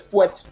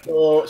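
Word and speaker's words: Pouet: But at least I can pronounce it correctly. Yes, Puet. Yeah, Puet.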